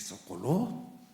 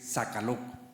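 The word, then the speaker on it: Sokolow: Me dice, "Socoló." Socoló. Sí, es que no has visto eso, dice, no se dice socoló, se dice saca loco.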